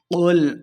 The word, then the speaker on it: قل: کی 6 آیات ہیں۔ قل اعوذ برب الناس، قاف کو موٹا پڑھیں گے۔ قل اعوذ، حمزہ اور